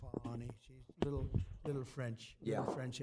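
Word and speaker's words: Fani Willis: The same DA, Fannie Willis. Right, Fannie Willis. She treated you very unfairly. She goes by the name of Fani, even though it's Fani. She wants it pronounced Fani.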